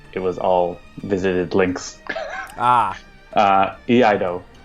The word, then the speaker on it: Iaido: Iaido. Iaido. Yeah. It's like Taeha. Yeah. Now that I know Japanese. How it's pronounced, I will hopefully remember it.